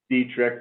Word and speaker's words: Detrick: is spelled d-e-t-r-i-c-k uh pronounced dietrich but spelled detrick and um so ryan